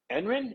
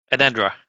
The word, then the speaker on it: Enenra: What I want to talk to you is about Blood and Fire, Ice and Bone, and Enren. Is that how you say it? Enenra.